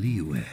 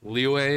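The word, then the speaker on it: Liyue: last things like with the freaking pronunciation of like leeway and all that you know sometimes like the even the characters in game all pronounce it differently sometimes they say leeway or something say liu or leeway it every single character seems to pronounce it differently it's like the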